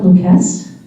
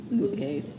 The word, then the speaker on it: Lucas: And for a student, I'd like to call up Lucess. Can you say your last name for us? Lucas.